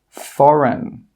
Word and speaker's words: foreign: When we have a G and it's before an N, the G sound is normally not pronounced. Some common examples are design, sign, foreign, Nash, campaign. In all of these words, we're not pronouncing that G sound.